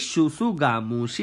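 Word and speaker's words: tsutsugamushi: Scrub typhus, that is Shusugamushi. Shusugamushi. T is silent here, guys.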